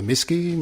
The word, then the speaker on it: MSCI: you that's right or it's known as the misy yeah misy is the a lot of people pronounce it that way it originally stood for